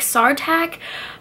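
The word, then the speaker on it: Sartaq: you say it so you're supposed to say it like SAR tak but you know what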